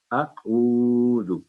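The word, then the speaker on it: أَعُوذُ: اسی طرح پڑھیں گے, اعوذ, یعنی اعوذ نہیں ہوگا, یہ اعوذ, جو سمائلی فیس کر کے اس کی آواز باریک ہوگی, آئین تھوڑا سا منہ گول کر کے اعوذ, اعوذ, یہ ہے اس کا تلفظ.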